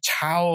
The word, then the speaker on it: Tao: sort of like the Tao of Physics, you know, or Tao of Physics, as it should be pronounced, you know, just soaking up all of this stuff.